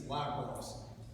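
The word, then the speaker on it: Liebross: spell his last name I believe it's lios but it's spelled l i e b r o SS he assaulted a handcuff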